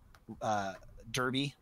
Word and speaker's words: Derby: That Old Firm derby out there in Scotland. It's pronounced Derby, but I'm gonna call it you've derby got the whole sectarian America, thing, right?